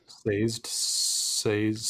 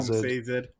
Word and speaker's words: Sazed: Sazed. I call him Sazed. Sazed. I've heard it Sazed.